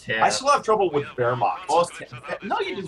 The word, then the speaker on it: Wehrmacht: We learned from Florian, our native German speaker, how to pronounce Oster. I still can't do it. I still have trouble with Wehrmacht. No, you did Wehrmacht very good.